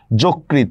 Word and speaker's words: যকৃত: যকৃত, দেখছেন অধ্বনির পরে রিকার আসছে এই জন্য ওকার হয়ে গেছে।